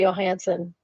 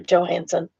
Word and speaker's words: Johansson: Same with Scarlett Johansson. Oh, sorry, Johansson. I keep forgetting forgetting that she pronounces the J.